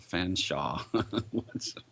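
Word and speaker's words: Featherstonehaugh: considering we're talking about the British who pronounced Feathering stonea fans Shaw I'm not sure what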